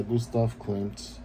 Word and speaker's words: Gustav Klimt: far off with the name I just was pronouncing it wrong but yeah Gustav Klimt with a kiss well my all-time favorite illustrations